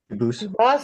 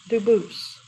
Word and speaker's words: Dubus: I know a family with that the same exact spelling in American. They do pronounce it dubis, but you said you pronounce it dubus as the original dub as the original French.